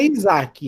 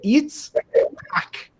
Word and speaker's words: Yitzhak: Não, em hebraico não é Isaac, em hebraico é Yitzhak. Para você pronunciar corretamente o nome do filho de Abraão, você tem que rir.